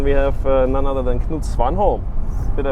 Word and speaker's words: Knut Svanholm: And then we have none other than Knut Svanholm. Did I pronounce it correctly?